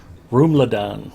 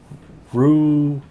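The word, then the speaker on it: Rouladen: Roomladan. No. Rouladan. The emphasis is on the second syllable.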